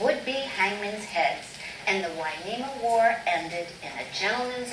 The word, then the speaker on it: Hueneme: to the Spanish version, Hueneme, spelled with an H and a U to make the W sound.